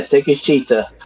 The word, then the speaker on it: Takeshita: I don't want to miss Takeshita. There you go. Yeah. Did you say take a shit? Yeah, Takeshita.